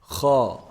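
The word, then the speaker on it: خ: So Kha is actually the closest throat letter to the mouth. The closest throat letter to the mouth. Kha, Kha. If you feel it, it's pronounced from the top part of the throat.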